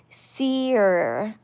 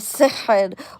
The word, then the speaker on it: sihr: And they made a comment of back in 2000 and whatever year it was, 2019, she called it seer instead of sihr.